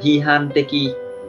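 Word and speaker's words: 批判的: Cách đọc của nó là hihan teki, hihan teki.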